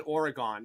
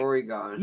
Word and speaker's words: Oregon: They made me pronounce it right. I was saying Oregon, and they were like, Oregon. No.